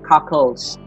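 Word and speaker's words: cacls: access control this or we pronounce it as cockles and then double quotation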